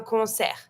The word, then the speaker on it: concert: same word but careful in French we don't pronounce the t so we're going to say and you stop at the r concert and then if you